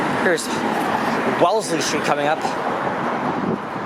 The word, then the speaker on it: Wellesley: covered it here and to pronounce it it's wellesley but with the spelling or if you look at the street site you may think it as well leslie but nope it is well part of